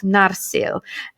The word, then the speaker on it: Narsil: the the shots of narsil narcil i'm straight on the first syllable okay yay um and